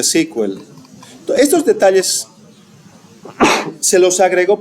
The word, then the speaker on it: SQL: Bueno, ah, SQL se pronuncia sequel.